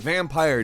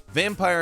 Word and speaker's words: Vampyr: 2018 number 10 is vampire with Y however it is pronounced vampire despite the Y vampire is an action RPG